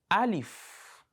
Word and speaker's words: ا: So to start with, we'll start from the first alphabet of Arabic, which is Alif.